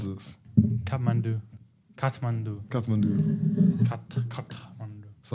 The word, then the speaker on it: Kathmandu: How do you pronounce this? Kathmandu.